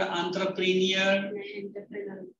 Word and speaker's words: entrepreneur: Am I correct in saying the word entrepreneur? Pronunciation. ENT takes the sound of alphabet A. Entrepreneur.